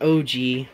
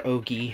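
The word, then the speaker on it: ogee: the same movement then og or ogi however you want to pronounce it would have because it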